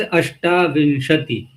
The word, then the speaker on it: अष्टाविंशति: तो वहां देखो सब जगह यही प्रसिद्ध है, अष्टाविंशति, अष्ट नहीं है, अष्टाविंशति है ना।